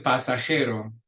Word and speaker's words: pasajero: El pasajero. Again, a J in your throat.